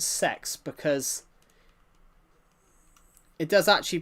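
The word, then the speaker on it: CeX: C E X actually does pronounce sex because it does actually pronounce that.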